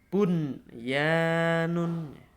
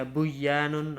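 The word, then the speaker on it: بنيان: Kita baca bunyanun. Bunyanun. Bunyanun. Ya, jelas membacanya harus jelas, tidak boleh dibaca buyanun atau misalkan aduya atau qiwanun atau siwanun, nah, begitu.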